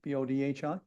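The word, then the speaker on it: Bodhi: August 22nd instructor Michelle am I pronouncing that right bod B anyone help me b o DHI bod thank you uh yoga in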